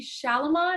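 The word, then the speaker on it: Chalamet: butcher his name but uh timothy shalamon i think that's how you pronounce his name he's from yeah i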